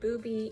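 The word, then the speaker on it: Bubi: So for the bag, I'm going to be using my Booby Eat-a-bag. It's spelled B-U-B-I, not B-O-B-Y.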